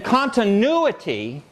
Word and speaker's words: continuity: And in continuity, this syllable does not have ya in it.